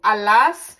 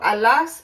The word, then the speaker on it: allas: J'ai allé, tu allas. French doesn't pronounce that S, but I pronounce the S to differentiate it, okay?